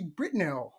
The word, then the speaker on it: Britnell: farms out of Alabama Miss TR Mrs britell right you said it right I said it